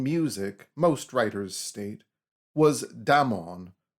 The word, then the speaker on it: Damon: most writers state, was Damon, whose name they say should be pronounced with the first syllable short.